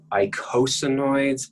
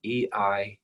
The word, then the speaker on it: eicosanoids: It's pronounced eicosanoids, but it's spelled with an E, E-I-C-O-S-A-N-O-I-D-S.